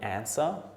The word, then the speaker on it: answer: Another group which has quite a few silent letters is groups with the silent W. So we've got the word answer.